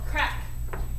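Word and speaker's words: craic: So, a word for fun in Ireland is called crack. And that's spelled C-R or C-A-R-I-C. C-A-R-A-I-C. No. C-R-A-I-C. There we go. C-R-A-I-C. So it doesn't spell like you would think it would sound.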